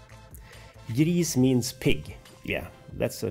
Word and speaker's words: gris: greece means in swedish it's spelt like this and it's pronounced the same sort of we say greece griez means pig yeah that's